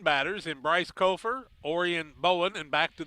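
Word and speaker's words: Copher: Kofer is how I see it pronounced, and I think that's correct. I believe that is correct.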